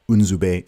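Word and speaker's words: Nzube: it so uh everyone calls me zubi but unzubai is how you pronounce my my proper my proper name and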